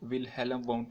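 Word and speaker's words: Wilhelm Wundt: Structuralism को present करने वाले, इसको तरतीब देने वाले जो साइकोलॉजिस्ट थे उनका नाम था विलियम वाउंट। इनको विलहेल्म वाउंट भी प्रोनाउंस किया जा सकता है।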